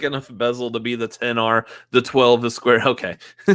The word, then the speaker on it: XR: So it's an iPhone XR, not XR, not XR, 10R. Say it right.